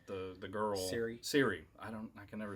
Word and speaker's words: Ciri: The girl Siri. I can never say her name. I only remember it because now I'm thinking Apple. Oh, right. I'm like, hey, Siri. But it's spelled with a C, right?